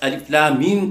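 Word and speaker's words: الم: کا کیا جاتا ہے۔ پس الف لام میم کا تلفظ اس طرح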